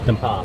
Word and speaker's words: Dampa: Dampa.